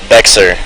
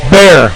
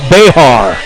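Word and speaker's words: Bexar: Bexer. Bear, like there's no X. What? And that's not even right, because it's a Spanish word that's supposed to be pronounced Behar. But they say bear like there's no X.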